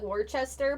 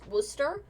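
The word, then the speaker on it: Worcester: wild the fact that a place could be look like Worchester but be called W Worster um eats at my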